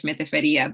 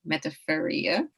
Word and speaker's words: Metaferia: I was going to say her name in Spanish, Metaferia, but I believe it's pronounced Metaferia.